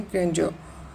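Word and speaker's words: grandeur: ग्रैंड्योर इसका right pronunciation है ग्रैंड्योर।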